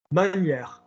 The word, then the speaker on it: manière: I say to Sarah, with your palate dropped, not giving a shit in the mouth. It shouldn't be manière. Your body is not going to remember anything difficult. Manière.